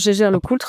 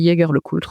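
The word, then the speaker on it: Jaeger-LeCoultre: Non, moi je prononce G le cultre à la française mais tu peux tu peux prononcer Jager le Cultre aussi si tu veux.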